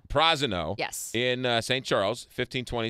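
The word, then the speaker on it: Prasino: I've been mispronouncing it until I showed up, and the hostess said it's Prosino. Prosino.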